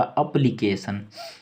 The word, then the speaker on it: application: TION का उच्चारण सन होगा हर जगह, जहाँ भी TION रहे लास्ट में उसका उच्चारण सन करेंगे, सन।